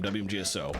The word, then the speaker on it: WMGSO: We pronounce it, we literally say it out by name, WMGSO, because that's the acronym of the organization.